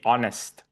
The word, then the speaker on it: honest: So the correct way of saying honest is you just don't pronounce the H. So it should be honest.